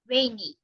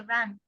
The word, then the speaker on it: rain: word correctly is it's rainy or it's raining we don't say run rain rain yes it's rainy now